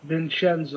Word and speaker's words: Vinchenzo: She offers Vincenzo. How do you pronounce his name? Vincenzo.